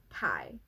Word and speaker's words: Ty: this language is that Tai Ty is always pronounced Tai there is no other